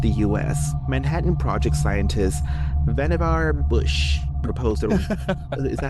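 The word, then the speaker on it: Vannevar: When the craft finally reached the US, Manhattan project scientist Vanavar Bush proposed a Is that how you pronounce his name? Yeah. Isn't that your name on Grinder? Vanavar Bush.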